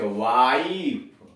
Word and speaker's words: wife: जैसे वाइफ, WIFE, वाइफ, तो डब्ल्यू से हो गया वो, और आई का हो गया आई, तो वह में आई जोड़ दिया तो वाई, और एफ का फॉर, ई का कोई उच्चारण नहीं है, कोई ध्वनि नहीं है, वाई पत्नी।